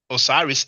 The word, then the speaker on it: Osiris: Osiris is in the Mednecher. It is Usil. The Greek pronounced it Osiris.